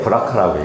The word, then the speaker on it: BRCA: 쉽게 브라카라고 얘기합니다. 네, 그냥 영어 발음을 그냥 그대로 따서 부르는 이름입니다.